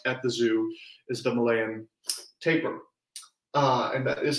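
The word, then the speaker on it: Malayan tapir: black and white at the zoo is the malayan taper uh and that is how you pronounce that word because i looked it up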